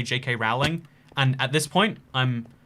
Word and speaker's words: Rowling: My name is pronounced J.K. Rowling. I don't know why Americans insist on calling it Rowling, and and it's so funny to me.